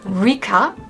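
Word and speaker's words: Rika: It's actually like Ra. So, R I K A. But, you know, with Japanese, it's very flowy between the L and the R. So, it comes out if you pronounce RA as you write it in a different way.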